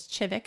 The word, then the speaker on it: Kivik: But we were taking the train to the Chivik Cider Festival, and the bus driver told me it was not Kivik, it was Chivik.